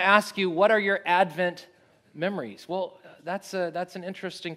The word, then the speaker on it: Advent: just want to say the proper pronunciation of the word Advent is, of course, Advent. And we are, after all, Adventists. I just wanted to say that. So if you've been tempted to put the accent on the wrong syllable, please stop it.